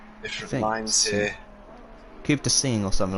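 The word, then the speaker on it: Coupe des Signes: I don't think they pronounce the ES. And then the GN is like pretty sure Rue actually mentioned how to pronounce that. Good old Rue. You're our MFF Rue. Yeah, so the GN sounds like a blocked nose.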